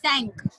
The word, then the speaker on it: cinq: 5 is sank. Sank. जैसे English में बोलते हैं SANK sank.